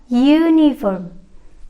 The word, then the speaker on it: uniform: karena setelahnya UU nah yang perlu teman-teman ingat bukan hurufnya ya tetapi soundnya disini dibacanya adalah uniform menggunakan huruf y yaitu konsonan song berarti